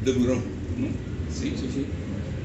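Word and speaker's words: Deburau: Pero entonces los franceses pronunciaban de Bureau, ¿no?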